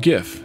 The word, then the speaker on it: GIF: and now we can go it's pronounced GIF duh interesting that it's not taken the color